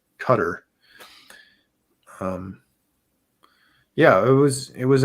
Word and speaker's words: Qatar: and a country called cutter and that's spelled q-a-t-a-r uh you know seems like it would be pronounced qatar but it's actually cutter yeah it was it